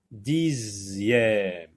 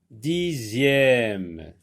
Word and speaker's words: dixième: Dixième. X ici se prononce Z. Comme la lettre Z. Dixième.